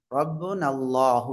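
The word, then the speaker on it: رَبُّنَا اللَّهُ: காலு ரப்புனல்லாஹு சொல்லுங்க ரப்புனல்லாஹு இங்க பாருங்க நூனுக்கு அடுத்து வரக்கூடிய அலிஃப் என்ன செய்யப்படவில்லை உச்சரிக்கப்படவில்லை சரிங்களா ஹம்சத்துல் வாசலிலும் அதுக்கு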